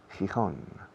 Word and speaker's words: Gijón: Gijón. All right. Gijón. And the rest, can you see them? I can see them. La otra mano. Okay. The first one is Gijón.